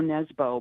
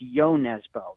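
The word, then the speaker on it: Nesbø: his name is Joe it reads as Joe Nebo but apparently it's pronounced ybo so it's got this great mystery under uh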